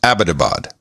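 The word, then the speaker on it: Abbottabad: very specifically it's pronounced abadabad yeah as in you know abbott and costello right and we were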